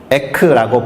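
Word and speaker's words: ἐκ: 하나는 제가 그냥 알파벳으로 적어놨는데 에크라고 발음하는 것이고, 또 다른 하나는 에이스라고 발음하는 거예요.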